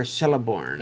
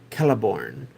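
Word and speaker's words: Celeborn: Is this Kelliborn or Celiborn? And I think in my youth I pronounced it the wrong way and now I don't remember which way it was the right way. So there we go. I think it's supposed to be Kelliborn. And I always pronounced it celiborn.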